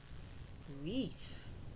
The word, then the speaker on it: wreath: Wreath, W-R-E-A-T-H, wreath. When GH is silent, it says nothing, as in night, N-I-T, night.